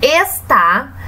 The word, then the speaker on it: está: Então, se avaliarmos aqui na palavra está, a sílaba tônica, ela está na última posição. Quando a sílaba tônica se encontra na última posição, nós dizemos que ela é uma oxítona, ok?